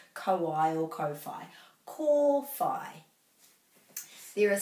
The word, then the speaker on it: kōwhai: So, most of us know that this colour, yellow, is kōwhai. So what we're doing is we're breaking at every vowel, kōwhai, whai, and whai rhymes with kai, so anything with ai will rhyme with that, ai, kō, and there's